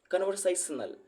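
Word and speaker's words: conversational: से in capital, both syllable are stressed, but the one in capital say sounds stronger or louder than the one lowercase con।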